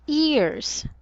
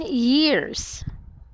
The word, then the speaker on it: years: This word, it's not ears. Ears. Again, years. Ears. Very good. So we should enunciate the Y sound. Years.